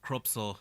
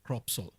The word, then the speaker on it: Cropsol: And the brand that we are promoting over here is called Cropsol. Okay. Okay, so though it is spelled as crop, S-O-L, Yes. what we basically mean is soul.